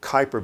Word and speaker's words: Kuiper: This is the Kuiper belt or Kuiper belt, K-U-I-P-E-R belt, pronounce it any way you want.